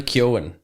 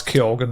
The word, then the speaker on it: Keoghan: He says it like no, he does. He goes, no, it's Keoghan or something. That's what he says. Keoghan. Yeah, he goes Keoghan. He says Keoghan. See, I'm pronounced that gin because everyone in Ireland before Barry Keoghan would have said Keoghan.